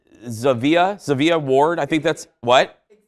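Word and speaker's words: Zhavia: Disney dropped this music video overnight featuring Zayn, and I want to make sure I'm pronouncing her right. Xavier Ward, I think that's, what? Xavier, thank you.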